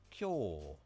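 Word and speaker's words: 今日: Just remember that is today, and the pronunciation of that is kyo, like Q, but instead of a U, it's a yo, kyo.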